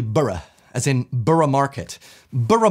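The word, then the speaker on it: Borough Market: as in burough Market bur Market not burough Market it's similar to like you don't say Glaston bu you say Glaston b or Canon Bri and where is burough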